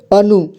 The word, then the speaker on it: अनु: तो देखिए इसमें ऊ का साउंड जुड़ जाएगा, तो ये न से नू बन जाएगा। ठीक है, इसे नू पढ़ेंगे, यानी कि इसे हम कुल मिलाकर के पढ़ेंगे अनु। इसे अनु पढ़ेंगे।